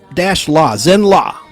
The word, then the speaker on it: Zenn-La: And he's from the planet Zenn-La, spelled Z-E-N-N-L-A, like Louisiana or Los Angeles, L.A.